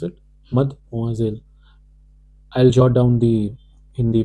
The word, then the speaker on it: mademoiselle: How do we pronounce it? Mademoiselle.